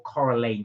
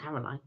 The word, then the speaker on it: Coraline: Kirsty said it it's think of Caroline or Coraline switch the switch the an and the O around car uh what Caroline no it's not Caroline I thought it was Coraline Coraline that's what I